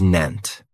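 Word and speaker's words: nascent: Another great adjective is nent. And this word has 2 syllables. And the stress is on that first syllable. It has the long A sound. Nun. That second syllable has that schwa.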